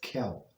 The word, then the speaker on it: Kel: And the first word, just so we know, since it's the name of HaShem, one of the names, so we pronounce as Kel.